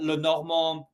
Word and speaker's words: Le Normand: And we, in our deleted little bonus episode, which is gone forever now, I did actually say that Le Normand, that's the French way to Mm-hmm.